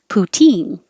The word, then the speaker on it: poutine: say it both ways poutine now this is the stress on the second syllable putin it's delicious put